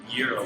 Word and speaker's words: gyro: So just for the record, the correct pronunciation of a gyro. It's a gyro. Gyro.